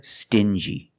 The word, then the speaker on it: stingy: example dingy and stingy these two words have the regular n Sound n Plus the J like juice together sting G together stingy or d g together dingy this wall is very